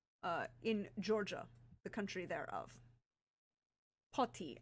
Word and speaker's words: Poti: Poti, I believe is how it's pronounced, Poti, on the eastern coast of the Black Sea.